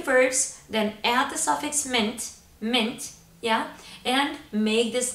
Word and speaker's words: ment: verbs using the suffix ment. Ment. Yes, exactly. It's pronounced just as you hear it, just like that breath mint. M-I-N-T in the spelling.